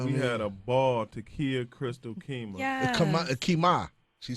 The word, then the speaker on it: T'Keyah: Takia Crystal Keymah.